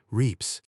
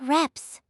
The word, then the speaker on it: reps: Okay, that one I actually knew, but I always thought it was pronounced reps. Laughs. It is pronounced reps like the short e in red.